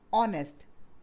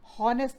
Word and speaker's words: honest: उसको प्रोनाउंस नहीं करते, जैसे एच इन ऑनेस्ट, हॉनेस्ट नहीं पढ़ते, W in rap, K in knock.